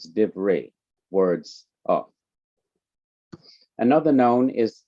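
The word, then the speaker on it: דִּבְרֵי: closed syllable then the simple Shiva is not pronounced so it's div Ray words of another noun is kakam wise wise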